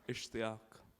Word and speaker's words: Ishtiaq: Ishtiaq.